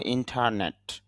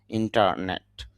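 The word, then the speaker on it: internet: ইন্টারন্যাশনাল আন্তর্জাতিক ইন্টারনেট ইন্টারনেট English যখন আমরা উচ্চারণ করব তখন বলব ইন্টারনেট র সাউন্ড বলবো না। আর বাংলাতে যখন আমরা বলার চেষ্টা করবো তখন র সাউন্ডটা বলব। ইন্টারনেট।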